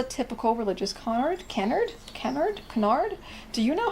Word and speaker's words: canard: wanted to know how to pronounce Canard it's pronounced Canard and that's fine if English isn't your first